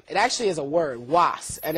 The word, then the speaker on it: UAS: means great power okay so it's uh properly pronounced it's was um but lots of people know us lots of your viewers actually will know us as uas properties okay um but back to the starting